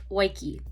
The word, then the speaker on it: Waiki: Hi, it's Editing Midi here, and her name is not however the fuck I was pronouncing it. It is Waiki.